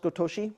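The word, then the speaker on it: ごとし: So the kanji for nyo can also be pronounced gotoshi in everyday Japanese.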